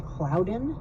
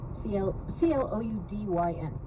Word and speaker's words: Cloudyn: This company, I think they pronounce their name Cloudyn, C-L-O-U-D-Y-N, Cloudyn.